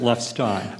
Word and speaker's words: Lefstein: Professor, and I want to be sure I pronounce it, is it Lefstein or Lefstein? I've heard both. So. I have no authority for it, but I always pronounce it Lefstein.